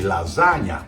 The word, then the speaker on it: lasagna: The GN sounds a little hard for America, but Italians pronounce it gnocchi. Just like you say lasagna, or my last name, Campagna.